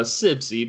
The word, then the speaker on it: Sibcy: It's a Sibcy, but it was close. Sibcy. The B's before the C?